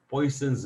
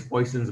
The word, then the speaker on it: Poisson: In English, we call as Poisson, but in French, the people call Poisson. But that pronunciation is different, and we stick to the original pronunciation, Poisson, because if we call Poisson, people will not recognize that about whom we are talking.